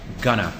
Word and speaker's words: gonna: The second one is called the reduction, the full reduction, gonna. I'm gonna go home.